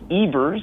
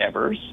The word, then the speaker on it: Evers: It's Evers, not Evers. Evers, I only correct you because you want to be on our side of that pronunciation.